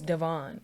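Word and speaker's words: Devonne: pretty much my first my first name is Devon it's spelled d e v o n n e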